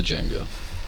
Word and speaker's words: Django: cool wow you're like the D is silent okay okay yeah yeah yeah three two one yeah yeah the Django um okay well done